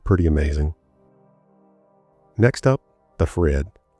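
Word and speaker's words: FreHD: Next up, the Fred. And I think that's what they call it, Fred, but it's F R E HD. So, I guess the H is silent.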